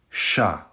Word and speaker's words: Ш: Next up, we have what looks like a W, but in Ukrainian, this is a sha. It's basically like the sh in the English word shadow. Sha.